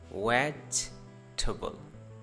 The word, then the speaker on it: vegetable: वेज, मैंने stress दिया है इस वाले ई पे, vegetable.